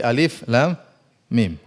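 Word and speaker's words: الم: Maka jangan dibaca HAM Jangan dibaca seperti Alif Lam Mim Jangan dibaca alam tapi Alif Lam Mim Alif Lam Mim HAM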